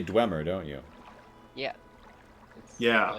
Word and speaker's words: Dwemer: I'm just wondering where you got the ooh sound out of DWE.